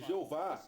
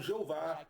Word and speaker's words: Jeová: verá que eles soletravam Jeová, Jesus e etc. com I. Todos eles pronunciavam com J, mas soletravam com I. Então não é porque antigamente tinha I que o som não será de J, percebe?